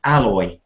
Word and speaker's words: alloy: them to Allure them but this is alloy alloy so the stress is on the first part alloy most words that